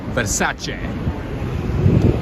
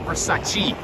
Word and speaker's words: Versace: By the way, friends, the proper way to pronounce this is Versace. not Versace.